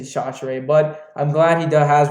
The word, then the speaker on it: Chachere: Yeah, by the way, it's not Chachere. It is Chachere.